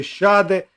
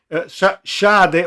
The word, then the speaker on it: Schade: a sinistra, così come Schade o Scade, credo che si pronunci Schade perché è tedesco il calciatore, 1,85 esterno sinistro, ed